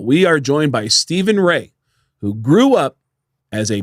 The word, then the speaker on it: Rea: Yeah, Rea as in like when my wife divorced, she was an X-ray.